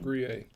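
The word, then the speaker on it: Gruyère: It's actually pronounced Gruyere.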